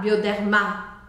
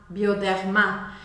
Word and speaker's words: Bioderma: nas farmácias bioderma bioderma Lembra que eu falei que a sílaba forte é a última por isso eu vou falar bioderma bioderma e o outro detalhe é que a gente vai fazer o r arranhadinho só eu não quero que